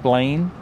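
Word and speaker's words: Belin: So this is, it's spelled B-E-L-I-N, like Berlin, but apparently it's pronounced Blaine.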